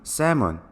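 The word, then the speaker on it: salmon: 맞춰 보겠읍니다 정답 중 새먼 el 발음은 묵음 이기 때문에 싸움 어 내 아닌 쎔 n 내로 들립니다 가짜 너 중 리피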